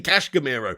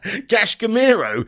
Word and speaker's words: Casemiro: Why did you have to say Casemiro? You added in a whole different sound of a syllable there almost. Well, not a syllable, but you definitely messed up there, Zane. Casemiro.